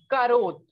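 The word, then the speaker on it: carotte: next we have carrot carrot in french is karuth the spelling is almost the same only difference is of e right so and pronunciation is entirely different in english it is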